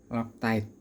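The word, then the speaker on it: Loctite: Ini lock tight 243. Iya benar ya lock tight ya bacanya ya 243.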